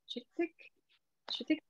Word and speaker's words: Chittick: I mean, really, for English speakers, any work of William, how to pronounce that? Chittick?